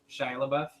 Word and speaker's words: Shia LaBeouf: Shia LaBeouf.